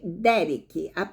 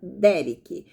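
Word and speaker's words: דֶּרֶךְ: Olha, a palavra caminhos aqui vem do hebraico, veja bem, derek, acentuando-se na primeira sílaba, derek, ok?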